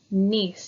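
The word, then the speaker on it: gneiss: this layering look and it's pronounced nice even though it starts with a G it's nice some more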